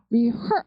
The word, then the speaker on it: rehearse: 이제 rehearse 이렇게 들어갈 때 예, 보시면 rehearse 발음이 제가 맨날 평상시에 강조하는 해병대 발음이에요. her 이런 발음이란 말이에요. herse 이렇게 돼요. rehearse 이렇게 돼요. rehearse 그래서 리 발음이 작고 her 강세가 되겠어요.